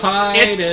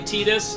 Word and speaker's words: Tidus: How do you say it? Tidus. It's Titus. Titus. Tidus. I concede that it's canonically Tidus, but it's Titus.